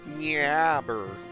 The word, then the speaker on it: Nyabur: I made the joke earlier that it's weird because it's pronounced weird because you're French, but what is the actual pronunciation supposed to be? It's Nyabur.